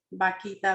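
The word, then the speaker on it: Bakhita: había puesto atención y pensé que era su nombre, Baquita, ¿verdad? ¿Sí se pronuncia así, Padre? Correcto.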